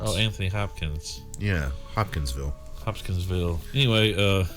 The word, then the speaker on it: Hopkinsville: Is it Hopkins, like Anthony Hopkins. Oh, Anthony Hopkins. Yeah, Hopkinsville.